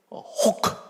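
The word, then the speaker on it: خوک: 그러다 내가 강권을 하니까 끝에 가서 호크, 아프간 말로 호크. 벌써 발음이 그렇잖아요. 아프간에는 크가 있고 크가 있는데 이 크라는 단어는 칼로 찌를 때 어걱할 때 나오는 그 소리거든요.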